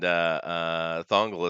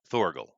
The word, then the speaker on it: Thorgal: Somebody says he's been reading Valerian and Thongle aside from what is that? Did I pronounce that right? Thorgal.